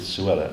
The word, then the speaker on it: Suella: the first one is Cruella which rhymes with Suella as you probably and